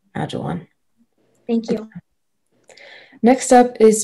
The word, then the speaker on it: ajwain: please it's a noun it's pronounced agile one agile one yeah that sounds better